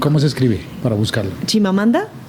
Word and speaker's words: Chimamanda: se escribe para buscarlo chimamanda así como suena chim ma manda ch